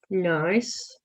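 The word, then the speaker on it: gneiss: we're going to do is called nice i think that's how you say it and that is g n e i s s and that is by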